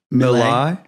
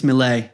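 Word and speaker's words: Milei: the president of Argentina Javier um mil did I pronounce his name right yeah I believe it's mle mle did you see his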